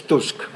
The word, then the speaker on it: Tusk: pronounced Donald Tusk and I should remind you that musk is musk Tusk is Tusk but but really I